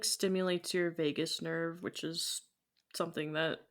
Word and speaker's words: vagus: I know it's not spelled like Vegas, but now Mm. I'm thinking about it like the vagus nerve.